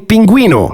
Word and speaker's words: pingüino: If you want to write ge or gi, you're gonna have to put an U between the 2 and not pronounce it. Unless you see this letter, in which case you do pronounce it, like in pingüino.